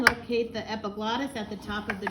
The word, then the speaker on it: epiglottis: And it is pronounced epiglottis, not e-pig lotus.